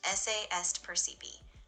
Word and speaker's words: esse est percipi: Yeah, it's pronounced esse est percipi. The stress is kind of on esse and percipi, so it's really a balanced Latin phrase.